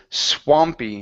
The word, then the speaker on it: swampy: Swampy Waters okay so use an a sound instead of SW okay SW swampy swampy okay all right so